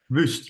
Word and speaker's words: Wust: Is that how you pronounce it? Wust? Wust, yes, with a Larry So U.